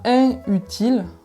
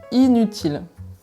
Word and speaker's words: inutile: avec une derrière donc on ne dit pas un utile on dit inutile la petite anecdote pour finir qui va peut